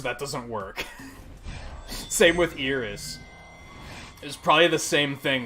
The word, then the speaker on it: Iris: going with this but is that how I pronounce it wouldn't it be like Eris that's still terrible no it would be like